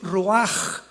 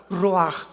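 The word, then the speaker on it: רוח: La palabra para espíritu en el hebreo es la palabra que es roaj, que se escribe ru con ch, pero repito, ese pronuncio pronuncia como J. Roaj.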